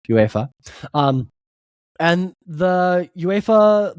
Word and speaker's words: UEFA: That's just how it's pronounced, UEFA.